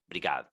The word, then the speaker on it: obrigado: But wait, obrigado. Actually, Madalena, you don't really or very usually pronounce the initial O, right? Sometimes it's just brigado.